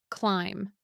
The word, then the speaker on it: climb: Words ending in MB almost always have silent B. Lamb, thumb, climb.